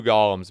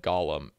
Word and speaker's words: golem: way but or golems these are pronounced golem and i for my entire life have said gollum uh yeah anyway i gotta get used to saying golem they are golems guys they're not gollums if you're like me